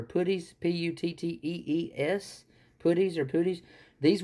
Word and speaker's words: puttees: Now, right here is actually, I might pronounce this wrong, it's either Puttees or Puttees, P-U-T-T-E-E-S, Puttees or Puttees.